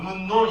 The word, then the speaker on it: 음운론: 음운논 이렇게 발음을 해요.